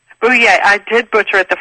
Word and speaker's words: DiBella: What is the correct way to pronounce it? It's Bouye. Bouye.